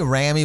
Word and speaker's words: Rami: And then with Rami, it's the same thing.